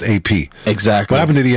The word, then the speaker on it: APXO: It goes, my name is AP, but the XO is silent like the love I never got.